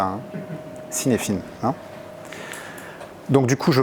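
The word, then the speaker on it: Cynefin: Est-ce que quelqu'un a déjà entendu parler de Kinevin ? Kinevin, ça se prononce comme ça. Hein. Cinefin.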